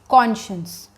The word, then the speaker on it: conscience: So we pronounce this word as conscience.